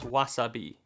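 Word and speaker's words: わさび: length of time so words like Wasabi are actually pronounced Wasabi additionally words that are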